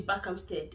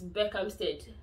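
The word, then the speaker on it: Berkhamsted: er as ah there's this city called birkemsted beck armstead you don't say buckham state okay it's beckham state you you pronounce it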